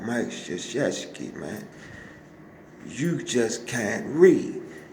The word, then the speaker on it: Krzyzewski: old big long nose, and you can't even pronounce his name. I said, man, it's called Mike Krzyzewski, man.